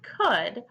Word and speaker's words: could: o you l/d could so with our word could arc our c is making the sound our oh and our you make the full sound our L is silent if you could see my face it's my oh my goodness or Ella's silent face and then our D makes the buh sound so let me do